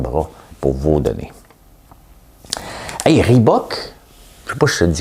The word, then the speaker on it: Reebok: Hey, Reebok, je sais pas si je te le dis comme il faut.